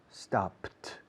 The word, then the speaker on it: stopped: Started, stopped, stopped. No se añade una sílaba. Con started, sí.